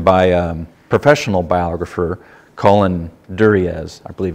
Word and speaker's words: Duriez: It's written by a professional biographer, Colin Duriez, I believe it's pronounced.